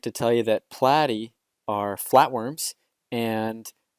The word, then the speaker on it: platy: I'd like to tell you that platy are flatworms, and how do I remember that? Well, platy rhymes with flatty.